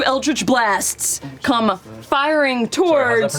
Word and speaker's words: Eldritch Blast: 2 Eldritch Blasts come firing Sorry, how's that towards pronounced again?